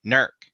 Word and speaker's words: Newark: I was like hey you got a newark new arc as well and he's like well we pronounce it Newark that's what you say